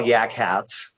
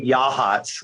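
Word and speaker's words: Yachats: spots is uh yahats which i call yak hats because it's spelled like yak hats a-k-h-a-t-s yeah i think that's right yeah okay but it's they say yahats which i'm like there's a k in there it's yak hats but uh anyway that's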